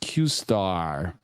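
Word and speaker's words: Q*: company that breakthrough is something called Q pronounced qar okay which is claimed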